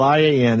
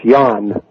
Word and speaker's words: Ian: So your first name, spelled I-A-N, is what now? It is pronounced Jan, and that's because of my Russian grandmother who refused to say Ian.